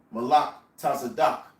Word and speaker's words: Melchizedek: Melchizedek, which means in the Hebrew, it's pronounced in the Hebrew, Malak Tazadak, which means the king of righteousness.